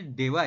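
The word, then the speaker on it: 대화: Bacanya dewa ya, teman-teman.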